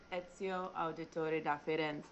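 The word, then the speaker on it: Ezio Auditore: it then okay yeah and i'm like it's ezio auditor and i'm like oh my god oh my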